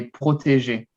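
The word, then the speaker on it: protégé: so we say in french we would say protege exactly say i mean american people like to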